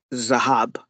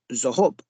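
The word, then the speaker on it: זהב: So, for example, most Jews would pronounce the word for gold in Hebrew as Zahab. But in ancient Israel, a lot of the Israelis would have said Zahob, not Zahab.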